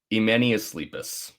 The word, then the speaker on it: Emenius Sleepus: what the is this uh emanus leepus that's how you say it which uh is